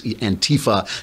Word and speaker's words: Antifa: And not, and also, of course, the now they call them Antifa. They put the accent on the wrong syllable. It's Antifa now beating up people in